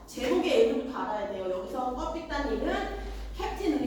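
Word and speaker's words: 꺼삐딴: 자, 제목의 의미, 소설의 제목, 껍빛단위에 담긴 의미를 정리해보자 라고 얘기했는데, 자, 잘 보세요. 껍빛단은요, 캡틴. 캡틴은 대장이잖아. 즉 영어로는 캡틴입니다. 근데 그 러시아식 발음으로 껍빛단. 이게 약간 와전돼서 껍빛단이 된 거예요.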